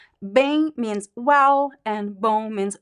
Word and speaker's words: bem: So here, the M, the function of the letter M is just to make the letter E nasal.